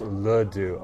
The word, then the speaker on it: laddu: It's pronounced Laddu.